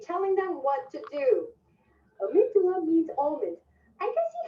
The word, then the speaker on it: amygdala: I call it amygdala because I think in Spanish it's amygdala, and I thought of it that way, but it's amygdala.